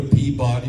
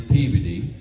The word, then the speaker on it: Peabody: like don't go to Peabody, Massachusetts. It's Peveody.